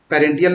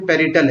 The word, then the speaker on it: parietal: यहाँ पे ऑक्यूपाइटल लोब्स और पेरेंटियल लोब्स, उसका पेरेंटियल नहीं, यहाँ पे पेरिटल है, पेरिटल लोब्स, उसका टेम्पोरल लोब यहाँ पे बन चुका है।